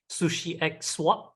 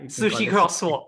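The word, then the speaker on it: SushiXSwap: uh one of your latest products which is Sushi egg swap I'm not sure if I'm pronouncing correctly hopefully I am but it's actually essentially swaps but yeah Sushi crosswalk yeah see I I knew I wasn't getting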